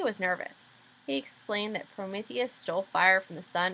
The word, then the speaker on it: Prometheus: vultures down to eat prometheus's liver in Ben's nervousness he mispronounced Prometheus so what he actually said was that Zeus sent vultures down to eat porpuses liver Mary Lou invited both